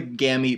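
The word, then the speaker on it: gemmae: little cups back here and these are called gammy cups gammy is spelled GE mmm a ee gammy is GE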